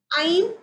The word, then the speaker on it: ऐं: तो ओम ऐं, इट इज नॉट एम, इट्स ऐं हम एक्टम ऐं ओम, ठीक है।